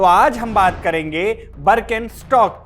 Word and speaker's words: Birkenstock: हम यह बता दें कि इसकी स्पेलिंग जो भी हो अमेरिका में इसे बरकन स्टॉक बोलते हैं। तो वहीं जर्मनी जहां इस ब्रांड का जन्म हुआ वहां इसे बरकिन स्टॉक ही कहते हैं।